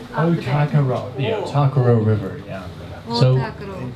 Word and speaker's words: Ōtākaro: It is pronounced Ōtākaro. Ōtākaro.